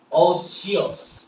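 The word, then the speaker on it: otiose: ওটিস বলবো? নো, উচ্চারণটা কি হবে? অসিয়াস, অসিয়াস, অসিয়াস, অসিয়াস।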